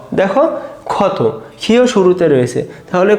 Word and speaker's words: ক্ষত: দেখো ক্ষত।